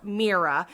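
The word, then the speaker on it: Mira: her name right now merera um that's how I pronounce it again I these are how that's how the audio book said it that's how the audio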